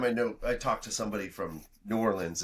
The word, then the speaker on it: New Orleans: It's actually pronounced Nolans. Nolans. I don't know. Nolans. Are we being snobby? We are being snobby. Good. No, I every time I talk to somebody from New Orleans, it's always like, you're saying that wrong, eh?